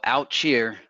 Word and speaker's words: Outchea: There's a song called Out Cheer. It's spelled Outchea.